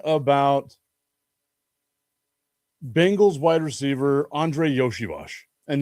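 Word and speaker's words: Iosivas: I saw an article yesterday talking about Bengals wide receiver Andre Yoshiash. And yes, that's how you say it, even though it's not spelled that way.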